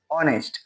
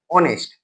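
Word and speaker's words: honest: है you where an ऑनेस्ट officer ठीक है ए से स्टार्ट हो रहा है पर उच्चारण ओ से करते हैं ए से स्टार्ट हो रहा पर उच्चारण ओ से नेस्ट नेस्ट नहीं ऑनेस्ट इसलिए यहां पर एन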